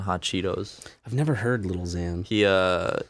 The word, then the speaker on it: Lil Xan: I've never heard Lil Xan. He, you're not... Who is Lil Xan? He's a rapper. He's one of those, Is it spelled like Xanax? Xan, like Xanax.